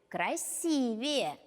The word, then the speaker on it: красивее: Чем человек счастливее, тем выглядит красивее. Не забудьте поставить ударение в слове «красивее».